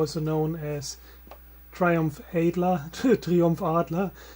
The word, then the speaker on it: Adler: as Triumph Adler Triumph Arla as we would pronounce it in German right Triumph of course